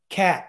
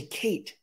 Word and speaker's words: Cat: a cat not K cat I'm sorry I always say Kate damn it my bad I always read that as Kate not Hey listen you can